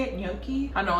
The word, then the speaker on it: gnocchi: The real reason I wanna go there is because I wanna try the cauliflower gnocchi. I think that's how you say it, gnocchi. I know it's spelled like G-N-O-C-C-I, something like that.